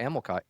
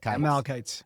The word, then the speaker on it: Amalekites: praise to Yahweh for helping us defeat the Amalekites. How you say it? Amalekites.